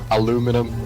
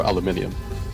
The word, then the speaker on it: aluminium: Oh yeah, aluminum or aluminium.